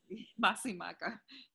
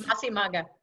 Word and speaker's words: Masi Magham: I can't pronounce it. What is that? Masi? Magham? Masi Maga. Yes. Masi Maga.